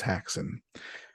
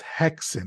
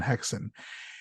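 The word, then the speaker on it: Häxan: you for his breakout third film which was hackson and so haxon does star Marin Peterson as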